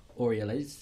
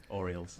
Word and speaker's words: Orioles: side is it the Cincinnati Reds the Baltimore oral is is that how you say it Orioles Orioles it's that one what's the what's